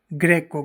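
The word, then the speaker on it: greco: और एक और याद रखना, जी के बाद में आर आ जाए, आर एक व्यंजन है तो जी का उच्चारण गे की तरह ही रहेगा, गे के नीचे रे लग जाएगा। जैसे ग्रेको, ग्रेको यानी यूनानी, जो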